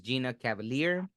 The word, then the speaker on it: Gina Cavalier: a good way podcast today's special guest is Gina Cavalier did I pronounce it right yep that's right okay perfect Gina Cavalier is a mental health Advocate author filmmaker artist